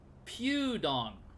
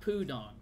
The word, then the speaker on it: Pudong: lots of you wow it's also pewdong not pudong I've been saying it wrong this whole time it's pewdongas Pew no